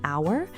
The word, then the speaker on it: hour: Was it the silent H in an hour?